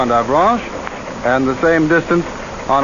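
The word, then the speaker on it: Avranches: this peninsula is 75 miles across between and avalanche i'll spell that again for those of you who have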